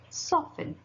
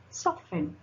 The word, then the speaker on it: soften: Now, letter T can also be little sneaky and also be silent, like it. In the example, what is the example? Ballet. How you pronounce this? Ballet. Soften. Soften.